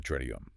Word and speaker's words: Triduum: The handbook calls it the Triduum. Pronounced tridu. Tridu.